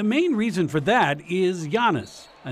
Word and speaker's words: Giannis: Everywhere we go, you know, people come up and say, okay, how do you say his name? And I just say Giannis.